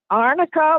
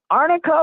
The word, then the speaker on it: Arnica: arica yes second word is Montana Montana AR Arnica Montana yes and know that's a r n